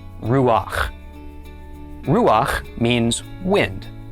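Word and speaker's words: רוּחַ: So normally one would think that we would pronounce this rua but because of the special rule we just mentioned we pronounce the pak first. So instead this becomes ruach.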